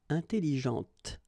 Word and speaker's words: intelligente: Intelligente. Same thing here. When you put this well, actually you will pronounce the final T, okay, but you don't pronounce this here.